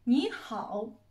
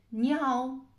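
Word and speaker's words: 你好: come salutare in cinese, ni hao, ni hao. Giusto, questa diciamo è la parola più utilizzata in assoluto per salutare in cinese. Però qui un'attenzione particolare, non mangiate mai la lettera H.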